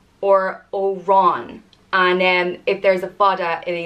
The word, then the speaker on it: Oran: The next one is Oran, and it means sallow one or dark-haired or pale little green one. And it's pronounced Or-in or An or Oran.